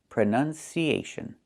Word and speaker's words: pronunciation: So the two first vowels are the same sound. Uh u prn. Closed and relaxed. Pron pronunciation, not pronunciation. The verb is pronounce. You pronounce the word this way. You pronounce the word that way. But the noun is pronunciation with a short uh sound.